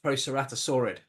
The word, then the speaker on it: Proceratosaurid: Proceratosaurid.